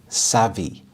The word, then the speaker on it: savvy: Savvy. Savvy. It's a very nice word to say, and the stress is on the first syllable, savvy.